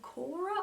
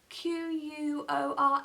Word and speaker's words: Quora: there's a forum called cora or quora q-u-o-r-a i don't know if i'm pronouncing it as quora or cora but i think it's quora anyway i see a